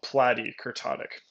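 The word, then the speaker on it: platykurtic: And if it were flatter, it would be called platykurtotic. Lepto, like it's leaping up. Platy rhymes with flat E, I guess.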